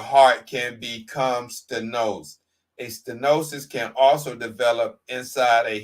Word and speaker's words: stenosis: The term stenosis, pronounced stenosis, is defined as a tightening or narrowing in the diameter of a lumen or opening.